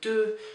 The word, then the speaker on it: deux: So be careful, this is not deux, but deux.